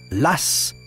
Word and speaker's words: Law: on achète du papier John LW que les Français prononcent Lass est le fils d'un